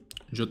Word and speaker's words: yo: The Y sound will highly depend on the region. You'll get yo, yo, yo, and more.